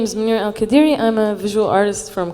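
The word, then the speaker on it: Monira Al Qadiri: it or yeah um so my name is minir Al kadiri I'm a visual artist from Kuwait and I'm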